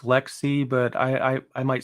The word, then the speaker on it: LXC: that correct yeah yeah and it's weird it's pronounced Lexi but I I might say lxc as well out of habit because before I